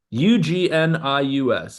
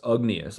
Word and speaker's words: Ugnius: N I U S, Ugnius, I think is how it's pronounced. Jarosevicius, Jarosevicius, he's from Lithuania. way it's pronounced Ugnius. That's the It's got to be like Eunice or something like that.